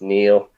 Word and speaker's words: Niall: And then Neil, I call him Ned because his name is Niall, but it's pronounced Neil.